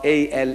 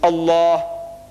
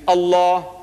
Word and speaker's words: Allah: Hebrew is L or alternatively spelled as Allah a l a h so the only exception I took